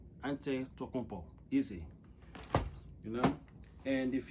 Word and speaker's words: Antetokounmpo: All you have to do is just look at the letters, spell it out, and pronounce it. Antetokounmpo.